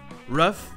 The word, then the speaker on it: rough: Quoi qu'il arrive, si le GH dans OUGH se prononce, il va se prononcer F. Comme par exemple dans ces trois mots très communs en anglais qui se prononcent comme slough. Enough, rough et tough. Enough! Okay. Do you want to play rough? Okay. Who's a tough guy? Who's a tough guy? Les trois se prononcent œuf.